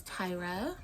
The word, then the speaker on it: Tyra: My name is Tyra, like Tyra Banks.